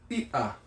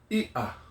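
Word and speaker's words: iʻa: But the Hawaiian word for fish is Ia, and it has that little mark in there. So it helps us to practice the okina in our Hawaiian word. Okay? Ia.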